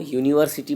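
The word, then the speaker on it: university: क्योंकि वो यूनिवर्सिटी बोलते हैं उसको, यूनिवर्सिटी या यूनिवर्सिटी ऐसा नहीं बोलते हैं। यू का प्रोनाउंसिएशन य ही होता है यूनिवर्सिटी में, इसलिए य जो होता है वो क ख में आता है।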